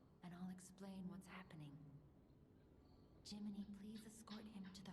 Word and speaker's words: Gemini: Jiminy, please escort him to the hotel. It's interesting that they basically... It's interesting how they say Jiminy, but it's spelled Gemini.